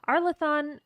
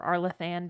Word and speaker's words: Arlathan: Arlathon is or Arlathan, depending on how you want to pronounce it, is the ancient elven empire that stretched all across Thedas before it was overtaken by the humans.